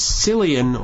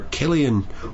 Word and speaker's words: Cillian: I kept meaning yesterday to look up how to pronounce the man's name. He's one of my favorite actors, Cillian or Killian or even Cillian Murphy.